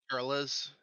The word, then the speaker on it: Turles: That's how it's pronounced. Turles.